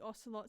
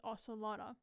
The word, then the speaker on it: ocelot: believe I discovered the ocelot spawn egg however my dyslexia decided it had an a at the end so I was pronouncing it as ocelotter and I actually caught